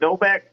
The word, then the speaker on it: Novak: Am I saying it right, Novak? Yeah, you're saying it perfectly, actually.